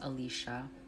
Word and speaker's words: Alicia: No, it's pronounced Alicia. Alicia confirmed.